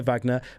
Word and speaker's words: Wagner: Uh, in the meantime, go follow Vagna. Vagna the singer said Vagnner but spelled with a W just for your searching reference.